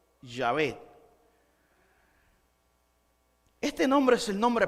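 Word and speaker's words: Yahvé: y por investigación recientes los expertos han concluido que la pronunciación más probable es llave este nombre es el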